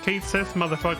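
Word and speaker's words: Cait Sith: a third wheel this Kate Sith whose name is supposed to be pronounced K she um legitimately I'm not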